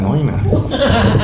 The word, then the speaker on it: Neuenahr: Because it's spelled KOLN. Yeah, but still. Yeah. And the first one is but Neuenahr. but noina.